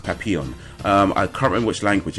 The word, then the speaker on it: Papillon: I know how this is pronounced. It's Papillon. It's actually pronounced Papillon.